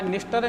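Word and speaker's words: Dniester: निस्टर, नीपर और done, ये तीनों 3D के नाम से। डी यहाँ साइलेंट है, ध्यान रखिए आप।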